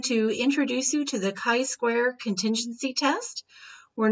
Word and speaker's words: chi-square: exponent of 2 and it is pronounced chi-square and not tri square all right now some